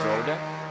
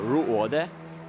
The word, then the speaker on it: Rode: And of course, without any risk from Roberts Rode or Ruode, because it's Rode. It's Latvian. Yeah. If you can see, it's UO, you know, in Latvian pronunciation.